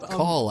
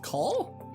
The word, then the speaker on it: Call: Is that Call, I believe. Call? Yeah. Call. The subtitle says Call. Yeah, but everyone pronounces it like Cole.